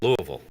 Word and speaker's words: Louisville: welcome to Louisville and that is the right way to say it Louisville okay so you're going to have to practice that while you are here we